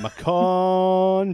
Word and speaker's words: Macon: We're in Macon, Georgia.